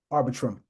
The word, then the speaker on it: Arbitrum: Saying it correctly? Arbitrum. There you go.